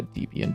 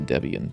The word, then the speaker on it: Debian: they were using a Debbian based. I don't know why I'm calling it Debbian. Like I usually pronounce a Debian.